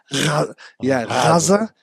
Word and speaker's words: Gaza: But actually, when you hear it said in Arabic, it's Gaza. Yeah, and it almost sounds like it's a R at the front, but it's Gaza.